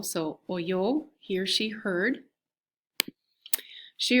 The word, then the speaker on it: oyó: And it would be oyó, okay, with just the accent on the O. So oyó, he or she heard.